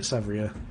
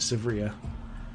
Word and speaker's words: Severia: this is the issue so if they hit savria or severe I need to keep saying it right severia then that's awkward but